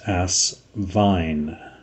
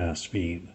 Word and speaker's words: Asvine: vac fill overlay and he confirmed that it is as Vine not as speed so as fine is the proper pronunciation of this company